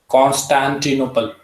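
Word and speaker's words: Constantinople: इसकी प्रोनाउंसिएशन बता दीजिए एक बार। कॉन्स्टेंटिनोपल।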